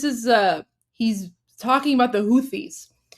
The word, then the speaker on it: Houthi: Okay, just really quickly, this is he's talking about the Houthis. So Houthi is pronounced like Husi in Persian, which is why it doesn't get like the accurate translation in English, but he's referring to the Houthis.